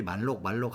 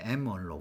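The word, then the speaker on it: malloc: 예, 그래서 M얼록이라고 하는 여러분들이 말록 하는 거 있잖아요. 예, 예, M얼록. 우리는 메모리 얼로케이션의 약자이기 때문에 말록이라 안 하고 M얼록이라 보통 우리 발음했는데 여러분들은 말록이라고 하더라고요. 보니까 예, 뭐 다 좋습니다.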